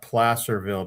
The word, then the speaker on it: Placerville: And for the people in California, we pronounce that Placerville because Placer has something to do with the gold rush.